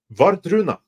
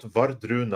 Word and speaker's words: Wardruna: But as far as Norwegian folk metal, Vardruna. You want to check out Vardruna? I'll say it's slower with a more English pronunciation. Vardruna. That's WARDRUNA. You want to check those out.